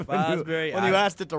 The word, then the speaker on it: Fosbury: Yeah, you said Frostberry, I believe. Fosbury.